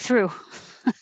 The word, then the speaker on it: through: Number 7, whether you spell it through or through with the, it sounds like through. It can be OUGH or EW, but it just sounds like ooh, through.